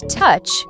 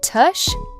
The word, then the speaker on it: touch: Dare and touch, touch. It has that ch sound at the end. Touch, not tush, touch.